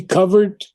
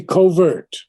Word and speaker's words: covert: of slumber self now i checked all the british dictionaries on the word covert and its pronunciation and i think i saw something like 10 or 12 different pronunciations have covered so it could be covert or it could be covert covert covert both two syllables what does it mean